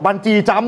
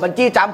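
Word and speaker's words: บันจีจัมพ์: ครับ คำ ทับ ศัพท์ ไม่ ต้อง มี วรรณยุก นอก จาก จะ เป็น คำ ทฮ คำ นี้ นะ ฮะ กระดด บัญชี จ เนี่ย นะ ครับ ก็ ตาม พัชนา นุกรม ทำ ใหม่ ฉบับ ราชบัณฑิตยสถาน ด้วย นะ ครับ แต่ ว่า ออก เสียง เหมือน เดิม นะ กระโดด บันจี้ จัม ได้ แต่ เขียน คือ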